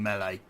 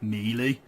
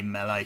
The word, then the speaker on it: melee: I need to get used to saying melee, because apparently that's the correct pronunciation of the word, and I always used to say, or still say, melee. So I think I'm supposed to say melee, so I need to get into that habit